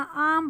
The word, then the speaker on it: arm: आर्म नहीं बोलना, आर्म बोलना है, आर्म, आर साइलेंट होता है।